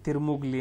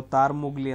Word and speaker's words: ತಾರ್ಮುಗ್ಲಿ: ಅಂತ ಹೇಳಿದ್ರೆ ಐಎನ್ ಎಸ್ ತಿರುಮುಗ್ಲಿ ಅಂತ ಹೇಳ್ಬಿಟ್ಟು ಸೋ ತಾರ್ಮುಗ್ಲಿ ಅಂತ ನೋಡ್ರಿ ಏನಂತ ಉಚ್ಚಾರ ಮಾಡ್ತೀರಿ